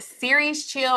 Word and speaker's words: Cereschill: So that again is called Series Chill, and it's not spelled how it sounds. It's spelled CERESCHILL.